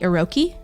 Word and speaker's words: Iroquois: There was another tribe called what I believe is pronounced the Iroquois.